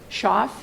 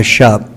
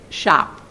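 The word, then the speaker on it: Schopf: Shoff? Uh Shup. The F is silent. The F is silent. So shop.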